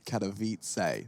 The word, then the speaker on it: Cavit: with your shuttle for Cavit kavit that's how you say it fantastic Alo is going